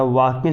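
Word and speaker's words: walking: यू आर नॉट वाल्किंग या वाकिंग इसको पढ़ते हैं एस साइलेंट होता है वाकिंग इन द फॉरेस्ट यानी कि तुम जंगल में नहीं टहल रहे हो।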